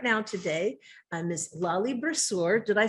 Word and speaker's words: Bruschere: sitting with me right now today, Miss Lolly Bruschere.